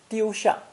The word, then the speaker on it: 丢: Pronounced first tone, 丢, 丢.